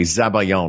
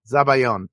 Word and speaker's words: zabaglione: Zabayon. Isn't that something that David Lee Roth said when he was Zabayon! Zabayon! Actually, he said it phonetically, which phonetically it looks like Zabaglione.